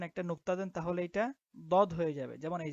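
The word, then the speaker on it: ضاد: আচ্ছা, তারপরে এটার উচ্চারণ হবে বদ। বদ। হ্যাঁ, তো এটার উচ্চারণ আমরা জিহ্বার গোড়া থেকে করব। বদ, একটু শক্ত করে।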